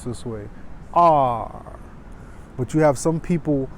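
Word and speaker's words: 二: Beijing people will also pronounce this way, R. But you have some people, about 80% of Chinese people will pronounce and it's not R.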